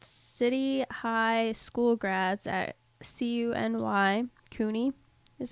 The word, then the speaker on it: CUNY: Rick here sent me this article about, it's called City High School Grads at CUNY is how you say it, needing remedial education.